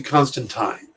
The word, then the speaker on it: Constantine: first thing they call they pronounce the constant time and i'm trying to go with that but it's been john constantine my entire life and he shows up